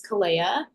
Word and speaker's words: KOLAIAH: My name is KOLAIAH. I know the spelling is strange and throws people off, but that's how you say it.